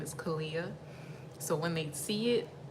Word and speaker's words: Kaliyyah: My name is Kaliyyah. So when they see it, they butcher it. So I usually tell people it's just Aaliyah with the K, Kaliyyah.